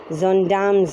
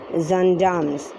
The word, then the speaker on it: gendarmes: silence said one of the gendarmes it's actually pronounced as zondam's girls because this is a french word for french policemen they are called zandams it it sounds it uh it is spelled